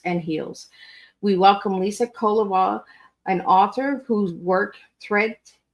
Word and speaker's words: Kovala: It's Kovala. It's just the emphasis at the beginning syllable. So Kovala.